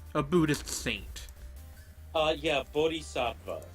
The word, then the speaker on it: Bodhisattva: Buddhist Saint uh yeah Bodhisattva yeah that's how you pronounce it like loosely like the actual pronunciation because it's Sanskrit is like it requires like aspirated voice consonants which are not a thing in English so I'm not gonna bother with that oh gosh I lost